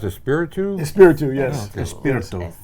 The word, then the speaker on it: Espiritu: Is that pronounced Espiritu? Espiritu.